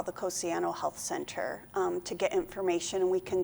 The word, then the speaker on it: Cosiano: because it can, some people pronounce it Cassiano, some Cosiano, Yeah, and good if point. they're phonetic spellers, sometimes that can get Right. a little confusing. Right. So it's Cosiano.